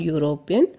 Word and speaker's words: European: The words university and European begin with the vowels U and E. But both these words are pronounced with U sound. U sound is a consonant sound.